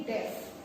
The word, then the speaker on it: deaf: को हम कहते हैं डेफ, DEAF, डेफ। ठीक है, आप इसकी प्रोनाउंसिएशन को ध्यान देंगे।